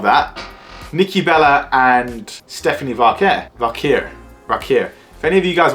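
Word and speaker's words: Vaquer: I'm pretty sure if I can recollect correctly, it's Stephanie Valkyr. Stephanie Valkyr. Sound like I'm saying it in an Indian way.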